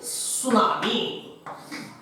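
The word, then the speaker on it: tsunami: बघा spelling T पासून सुरू होतं का, टी सायलेंट राहतो आणि सुनामी.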